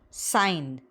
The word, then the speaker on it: sign: So other spellings are gn, where it is pronounced as not, sign, sign, sign.